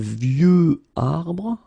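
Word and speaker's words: vieux: is view old and view okay of course you have this x at the end but you don't pronounce it okay so it it's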